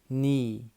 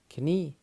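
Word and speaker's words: knee: كو الك هنا سايلنت ني ني اللي هي ركبه ني وليس كني لان الك هنا ايه سايلنت نايف نايف سكينه نايت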